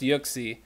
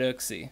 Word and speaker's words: Uxie: with everybody here and that is that it's pronounced yuxi nat oak see here we got the official name pronunciation guide